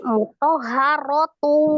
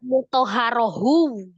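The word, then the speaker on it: مُطَهَّرَةُ: Tak marbutoh itu kan ada aturannya. Ketika dia disukunkan tadi menjadi huruf H. Nah, ketika dihidupkan jadi huruf apa? Ketika hidup jadi huruf apa? Atau tadi kan bacanya mutoharotu. Kok enggak baca mutoharohu? Jadi H juga.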